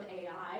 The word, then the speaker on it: Ai: against the people of AI is usually how it's uh pronounced which is kind of funny.